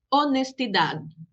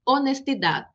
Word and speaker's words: honestidad: Su nombre en español es H, honestidad. Observa que en español no suena, la H no suena, não tem som, ela não soa, ela não tem nenhum som. Então, honestidade.